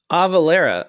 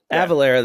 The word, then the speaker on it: Avalara: efficient because of this avalera avalera i always say it wrong it's avalera right avalara the sales tax automation